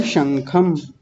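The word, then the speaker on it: शंखम्: अनुस्वार यानी ये जो अं की बिंदी होती है ये छोड़ दी थी आपने। कैसे बोलेंगे? शंखम।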